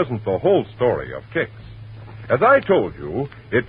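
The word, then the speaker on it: Kix: waiting for all right ask your grosser for kicks tomorrow morning that's spelled k IX kicks w now the curtain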